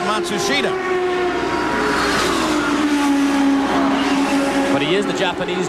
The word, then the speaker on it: Matsushita: of the penske cars they've changed the pronunciation again they've given it to us four or five different ways now it seems that they have settled on mashusta they started the year with matsushita but he is the